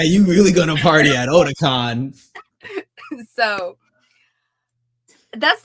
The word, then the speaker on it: Otakon: I cannot pronounce it. Please, what is it? Ahsoka Otakon. Otakon.